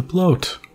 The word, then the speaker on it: Bloat: The Bloat, which rhymes with goat.